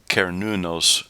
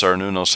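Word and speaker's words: Cernunnos: with this this imported pan god uh it's pronounced kernunos but i've heard it also pronounced sarnunos and i wonder if that's where cern gets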